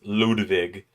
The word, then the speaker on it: Ludwig: Oh man, it feels nice taking that, getting rid of um But yeah, and I pronounce Ludwig as Ludwig because that is the German way of pronouncing it, and he is I think German.